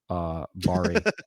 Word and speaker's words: Bari: And I think especially if you're only going to do one R, then it's got to be a hard R, Bari. Don't say that.